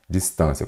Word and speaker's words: distância: terminadas em ditongo crescente olha aqui distância Qual que é a sílaba tônica sílaba tônica é aquela que fala mais forte tem acento É ela então aqui eu já vi que ela é o quê uma paroxítona terminada em ditongo são acentuadas basta você se lembrar